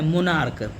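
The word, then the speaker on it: monarch: मोनार्क मोनार्क मोनार्क। इसके अंत में सीएच का उच्चारण क की तरह है।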